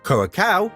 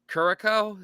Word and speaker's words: Curaçao: state technically made up of 4 countries: Aruba, Curaçao, Sint Maarten, and the Netherlands.